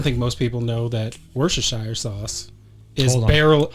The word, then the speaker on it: Worcestershire: So the sauce Worcestershire? is just Worcestershire.